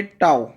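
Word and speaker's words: tau: Greek letter है टाओ करके, इसको आप प्रोनाउंस कैसे करोगे, टाओ, ठीक है।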